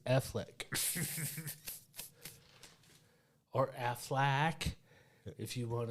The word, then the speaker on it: Affleck: No, his name is Affleck.